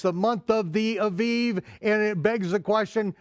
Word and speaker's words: Aviv: the month of V Aviv now in your King James Version I'll say the month of Abib okay I don't care whether you're pronouncing with the wit with the vet or the bat it